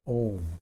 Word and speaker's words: Om: So let's start with the basic mantra Om, and I've talked about that before. It's spelled O-M, but at other times you will see it spelled as A-U-M, because that helps you with the pronunciation.